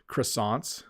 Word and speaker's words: croissant: to learn how to make croissant croissants that's the English pronunciation um I would like